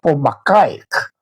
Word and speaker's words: Pomachaek: se llamó amigos Pomachaek o pronunciado más o menos Pomacaek en Mochica, Pomachaek y escultando libros, consultando lingüistas como un profesor Díaz de allá de Cascas.